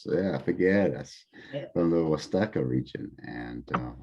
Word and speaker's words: Figueras: Did I pronounce that right? Figueras. Yeah, Figueras, from the Huasteca region.